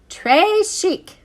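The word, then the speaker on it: très chic: it like a bracelet Trey chic you say it like this Trey Chic it means very fancy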